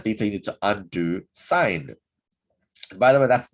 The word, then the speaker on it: sine: And to find theta, you need to undo sine. And by the way, that's not sin, it's pronounced. The full proper word is sine. And that's how we pronounce it. Make sure you don't say sin.